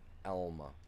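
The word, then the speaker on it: Alma: It's a different Elma, which don't get me wrong, I don't know why they didn't never spell E L M A because that is how it's pronounced.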